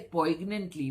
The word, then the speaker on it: poignantly: now the spelling is p o i g n a n t l y the g is silent so we won't say poignantly we'll say poignantly okay